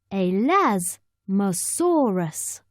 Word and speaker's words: Elasmosaurus: are like flat plates how do you say it elasmosaurus say a Laz masaurus it is quite dark